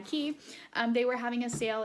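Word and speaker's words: Quay: it's an Australian brand I know it's a weird pronunciation but qu a Y key they were having a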